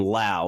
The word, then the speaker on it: Lowe: buy low for Brandon Lau now if we pronounced his last name differently like Nathaniel Lowe of the Texas Rangers